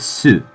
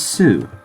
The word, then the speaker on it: す: by a consonantal sound many times the U is kind of dropped leaving a bit of a pause in the word this isn't necessary but it is common especially with Sue it's almost always pronounced